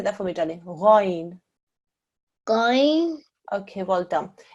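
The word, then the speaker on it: غين: Ghain. Going. Okay, well done. In English, when it's written out, it does have a G-H-A-Y-N. So you may be forgiven for thinking it's a g, okay? But it's ghain.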